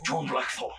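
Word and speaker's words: John Blackthorne: John blackor lady Muro you got to say his name like John blackor uh John blackor we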